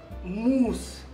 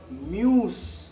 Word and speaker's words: moose: Moose. No. Muse. No. Moose. No. Musu. No. It's moose.